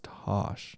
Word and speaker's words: Tasha: Like, luckily, Tasha, she like her name is spelled Tasha. Don't. But it's Tosh. Just don't forget that. Just like TOSH, and that's it.